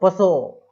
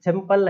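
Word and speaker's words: pshaw: तो सिंपल है सो, है ना, इस तरीके सो, है ना। तो पी एस एच ए डब्ल्यू, P silent हो गया, एस से पहले आ रहा है इसलिए, ठीक है।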